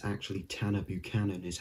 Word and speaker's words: Buchanan: boccen something like that but it's actually tana buchanan is how he says it in interviews and when he introduced himself so that's how it is town of buchanan not tanabatchanan or tana butcher another like a character's name that's often i'd